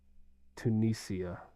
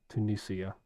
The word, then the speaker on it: Tunisia: of the other surrounding places but apparently uh tesne is like a really really nice developed country in uh in Africa so that's that's definitely on the bucket list of places I would love to go Tunisia you're right I was pronouncing it incorrectly Tunisia